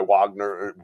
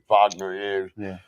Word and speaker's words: Wagner: That that that's that's a complete myth that was made by Wagner Wagner during the the Romantic period. Vagner, that's the right pronunciation of it.